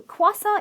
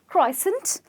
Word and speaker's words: croissant: adopted into English and its very very tricky to pronounce so kaw-sant it is not croi-sant like you would say it but you have